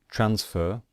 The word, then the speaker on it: transfer: So, for example, transfer. Transfer, we stress the first syllable.